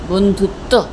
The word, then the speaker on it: বন্ধুত্ব: ধয় হস্যু তয় বয় এই বটার কোন উচ্চারণ নেই আমাদের কিন্তু ত বলছি বন্ধুত্ব তয় তয় নয় কিন্তু